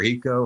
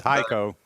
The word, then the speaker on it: Hico: I don't know if it's Hico or Heeco or what. I think it's Hico. Hico. Okay, right outside of town, there's a country club and they offer free charging.